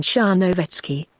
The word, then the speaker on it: Charnovetski: It is oddly spelled, but it is pronounced a little broader than you give it, quite as though it were written Charnovetski, in fact, with the accent on the third syllable, R, yes.